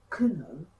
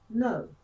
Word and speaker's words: know: Don't say kuno, say no.